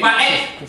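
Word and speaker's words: ואת: Put your teeth on top of your tongue to say et. So say va'et. Va'et. That's the way you pronounce it.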